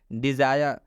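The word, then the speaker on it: desire: डिज़ायर, डिज़ायर का मतलब होता है इच्छा। यहाँ पर आई के बाद से RE आया है, इसलिए आई का उच्चारण आई हुआ है, इसलिए इस आई का उच्चारण आई हुआ है।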